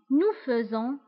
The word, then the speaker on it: faisons: Nous faisons. Nous faisons. Vous faites. Vous faites. Ils font. Elles font. Je fais. Tu fais. Il fait. Nous faisons, vous faites, ils font.